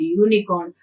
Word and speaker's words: unicorn: So when you pronounce these two words, university and unicorn, the sound which you get is ya sound.